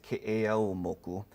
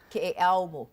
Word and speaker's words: Keʻeaumoku: So the appropriate way is Keʻeaumoku. Keʻeaumoku. Yeah, Okay. so there's the U that kind of tightens that O sound to a tighter U sound. So Keʻeaumoku compared to Keʻeaumoku.